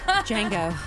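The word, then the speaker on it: Django: in this nominated movie The D is silent Kelly Jango Jango Unchained is correct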